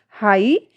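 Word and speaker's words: high: बट जब इनको pronounce किया जा रहा है इनको तो यहां पर जी एच का कहीं कोई जिक्र नहीं है। कहीं कोई उच्चारण नहीं है। नाइट स्पेलिंग जो बन रही है स्पेलिंग में जो इसकी प्रोनंसिएशन हो रहा है वो क्या है? नाइट हाई थॉट लाइट क्योंकि इन सारी ही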